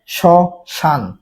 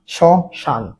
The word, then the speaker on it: শ্মশান: এই শ্মশানের উচ্চারণটা কি হয়ে যাচ্ছে? শশানের উচ্চারণটা হয়ে যাচ্ছে তালেব বা স তালেব বা স আকার দন্তার ন সশান সশান ঠিক আছে এখন এই